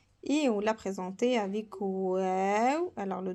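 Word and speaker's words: واو: Et on l'a présenté avec wow. Alors le W, quand vous voyez W, c'est la prononciation de wow.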